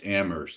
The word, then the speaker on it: Amherst: have to learn that it's pronounced ammer there is no h in in in Massachusetts I'll just make sure